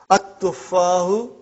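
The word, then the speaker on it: التفاح: But now your mind knows that that is a sun letter, so you will pronounce as at-tuffahu. You will put a shadda anta.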